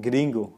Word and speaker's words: gringo: For example, as an English speaker, you need to roll your R's, or at least to tip it for a word like gringo, for example. You see, they don't say gringo, gringo.